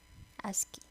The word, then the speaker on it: ASCII: code for information interchange that's how we pronounce that ascii this is the standard